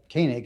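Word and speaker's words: Koenig: that was proposed by Andrew uh kanig I think is the way say his name he's a legisl Republican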